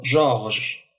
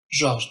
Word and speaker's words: Georges: et la voyelle donc George George donc le E ne se prononce pas mais il est il est là pour garder toujours le son je George comme euh je